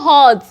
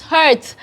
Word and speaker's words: hurt: like you hurt me it's not hot it is hurt you have heard me